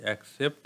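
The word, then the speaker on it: accept: নিয়ে বিস্তারিত আলোচনা করব একসেপ্ট হ্যাঁ এটার প্রোনাউন্সিয়েশন হবে একসেপ্ট এবং এটির যে প্রোনাউন্সিয়েশন সেটি হবে এক্সেপ্ট হ্যাঁ একসেপ্ট আর হচ্ছে এক্সেপ্ট বিষয়টা একটু মাথায় রাখবেন প্রথমে দেখেন একসেপ্ট এক্সেপ্ট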